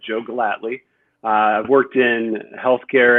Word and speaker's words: Gellatly: about mentoring yeah well first off excellent job pronouncing the last name and as you said Joe gladly I've worked in health care and health IT